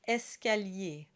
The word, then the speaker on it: escalier: still pronounced with the ER combination, and it's pronounced escalier.